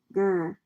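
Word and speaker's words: ger: Y for yurts, the tent like homes of the Mongolians called Gur. In Mongolian, the yurt is a round structure rhymes with hair.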